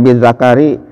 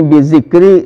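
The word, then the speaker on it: بذكر: Awas bacanya jangan bizakari, nanti alat laki-laki ya menyebutnya, jangan mentang-mentang wah ini kan gundul Pak Ustadz, Pak Kiai, boleh bacanya seenaknya, enggak boleh. Jadi di sini bizikri, dengan menyebutnya.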